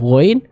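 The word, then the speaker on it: غ: Nah, huruf ghain tebal dan ada suara yang mengalir. Contoh misalnya au ya, ketika huruf ghain ini sukun maka akan ada suara yang dialirkan serta dibaca dengan tebal.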